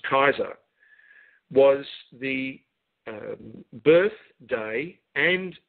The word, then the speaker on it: Caesar: kaiser julius kaiser julius caesar but it's pronounced kaiser was the birth day